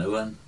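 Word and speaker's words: Uaine: And then Corn Loch an Uan, you didn't pronounce the E at the end, mm-hmm. as you do in the west.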